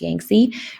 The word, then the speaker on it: Yangtze: Our last river valley civilization is the Yellow and the Yangtze, or sometimes you'll hear it pronounced Yangtze, rivers in China.